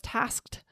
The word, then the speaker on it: tasked: And sometimes I find this hard to pronounce, but I was tasked with lowering costs. How do you pronounce that? The K followed by the T sound is a little hard. Tasked.